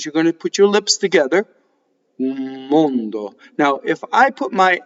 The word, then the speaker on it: mondo: Notice that the O's in mondo are closed and that the N vibrates going into the D.